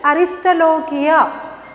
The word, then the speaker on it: Aristolochia: Aristolochia. See the pronunciation? Aristolochia.